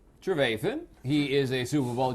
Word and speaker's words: Trevathan: my son's TV show we talked to Danny Trevathan keep the other we gonna make another baby papi I'm not John eNOS on the beach today is Donnie Trevorton Trevathan he is a Super Bowl champion he is